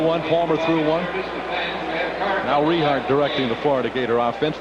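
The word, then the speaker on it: Richart: gator backs all right let's pronounce the young man's name correctly it's rehar r-i-c-h-a-r-t the quarterback larry riehart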